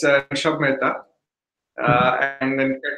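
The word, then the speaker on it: Rushabh Mehta: Yeah, so it's Rushab Mehta, and then the name of the company is Frappe.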